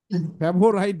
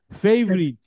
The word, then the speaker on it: favorite: travel right right for right favorite ফেভারাইট না, ফেভারিট, এটাকে উচ্চারণটা হয় ফেভারিট। এই ওয়ার্ডটা আরো একবার আসছে, কিন্তু আমি ওটা নিয়ে আলোচনা করছিলাম।